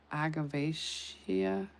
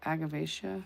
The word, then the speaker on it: Agavaceae: This is in the agav- agavaceae. Uh agavaceae, that's how you say it.